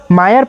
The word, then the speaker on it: মায়া: মুখ কুচকিয়ে বলে Ethan my name is মায়া নট মিয়া O sorry মিয়া Ethan sorry sorry মায়া মায়া কথাটি উচ্চারণ করতে বোধহয় বেশ কষ্টই হলো ইথানের।